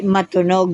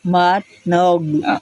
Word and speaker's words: Matnog: Hindi matunog ha. Yes. M a t n o g. Matog.